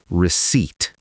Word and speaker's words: receipt: And the key thing here is the P is silent.